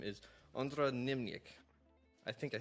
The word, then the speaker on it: Niemczyk: Yeah, it's Ondra Niemczyk. Niemczyk. Okay. Yes. Niemczyk. Gotcha. Okay, so it's that last syllable that caught me off guard.